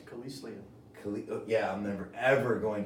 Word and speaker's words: Kelislian: We got my boy Ara here, and how do you pronounce Kreslin?